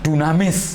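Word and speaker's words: δύναμις: ya kalau nggak salah ini cara membacanya Dunamis ya Ya Nuraini yaitu ditulis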